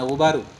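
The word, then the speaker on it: غبارُ: Ini enggak boleh ghubara bacanya, ghubaru.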